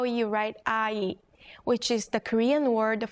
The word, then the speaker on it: 아: Now if you take the last character and add a short stroke to the right side, it becomes your second vowel, a. 아, As you practice the pronunciation, try to associate the sound with the character.